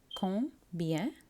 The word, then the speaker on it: combien: combien combien இது கொஞ்சம் ட்ரிக்கியாக இருக்கும் உச்சரிக்க combien ஸோ கொஞ்சம் சேர்த்து தான் நீங்கள் அந்த லாஸ்ட் சிலபிளை ப்ரொனவுன்ஸ் பண்ணணும் அப்படி இருந்தால் எவ்வளவு எத்தனை First example, combien est-ce que ça coûte?